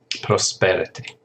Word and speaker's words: prosperity: And then prosperous, the noun is prosperity. Prosperity. Notice there's a shift in the pronunciation of the syllable. It's prosperous. The stress is on the first syllable, and prosperity, the stress is on the second syllable.